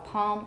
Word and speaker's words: palm: I have valorization it's not a really complete L but I have the back of my tongue is getting tense so palm almond and I discussed this with some some of my colleagues in pronunciation teaching and they said oh don't teach that that's not standard not many people say